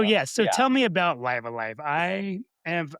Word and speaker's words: Live A Live: I mean, well, first off, so to go to jump into it, Live Alive is how Nintendo pronounced it on the Nintendo Direct in the American version, whatever.